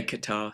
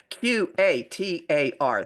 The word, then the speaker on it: Qatar: in Europe we say Qatar.